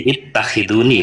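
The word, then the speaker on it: اتخذوني: ya, antakul nasi, Ittah- ittakhuduni, Takhuduni atau takhiduni Bapak? Ini yang benar bacanya Pak Kiai. ittakhiduni kok ya, Gitu dong.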